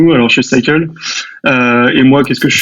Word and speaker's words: Psycle: Alors chez Cycle, et moi, qu'est-ce que je fais ?